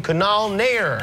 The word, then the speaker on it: Kunal Nayyar: Please welcome Kunal Nayyar. Did I pronounce your name correctly?